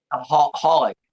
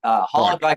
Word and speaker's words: Holyx: We got our guest, Isaac Holyx. Is that, did I pronounce it correctly? Holyx. Holyx like alcohol. It's the easiest.